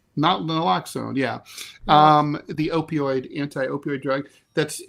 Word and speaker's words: Naloxone: It's not really known why this dropped so fast, but experts say that I always have a problem pronouncing this. Naloxone? Naloxone, yeah.